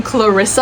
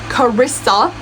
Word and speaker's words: Carissa: Remember I said um Clarissa last time? That was incorrect. Karissa Karissa Broadband.